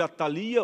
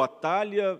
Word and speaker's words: Atalia: rei Acasias, que era filho de Atalia ou Atália, eu vou usar Atalia por uma questão fonética, tá ok? Mas podemos usar as duas formas de pronúncia.